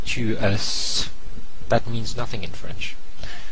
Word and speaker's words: tu es: So a friend, somebody you know, and it's tu es. Okay, and it's spelled E-S-A. So the S is silent, and I want to point out here that the E sound here is different from the je.